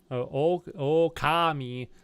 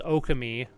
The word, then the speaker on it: Okami: I say it is Okami like really fast so I might be putting an emphasis somewhere but I don't think you're supposed to put an emphasis anywhere because it's a it's a play on words between uh because Okami with an emphasis in one position is Wolf and oh Kami like emphasis on the o means great God so like the and